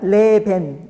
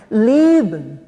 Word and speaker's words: leben: 근데 독일인들 아무도 레벤 이렇게 읽지 않습니다. 어떻게 읽냐면 일단 순수 독일어는 첫 음절에 강세가 있어서요. 앞에 A에 강세를 둬서 레이라고 읽는데 이 A가 우리나라에서 말하는 A보다는 턱이 더 위로 높고요. 입이 좀 더 옆으로 벌려져야 돼요. 그래서 그 다음에 나오는 A도 똑같이 A지만 얘는 거의 묵음에 가깝게 소리가 안 납니다. 그래서 leben, leben 이렇게 발음을 해야지 leben 하면 독일인들은 그렇게